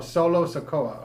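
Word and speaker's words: Solo Sikoa: going how do you say it solo Oh solo sakoa okay so then who's gonna monitor him you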